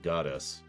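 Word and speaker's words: Gades: there was because that's how we know it's pronounced goddess which is still dumb you know what's really funny in imperial that is how gadey's would be pronounced g-a-d-e-s goddess but don't call him that well that's a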